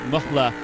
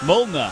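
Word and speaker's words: Mühlner: Uh there was personal best for Müller for Mulla or however you pronounce that in the 911 class. Mulna. Mulna.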